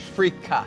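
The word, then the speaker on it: freekeh: Let me finish it with a little Yes, bit of I've got to have some fracca. How do you spell that? F-R-E-E-K-E-H, like fricka.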